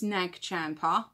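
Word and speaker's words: Nag Champa: on my other channel, it's Nagchampa. I say Nachamba, and that's how I pronounce it. Before anyone says, that's not right, because we had this before, I say Nachamba. If you want to call it Nagchampa, you can. It's Nachamba to me.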